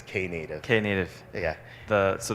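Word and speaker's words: Knative: yeah sure oh that the pronunciation is canid okay native yeah the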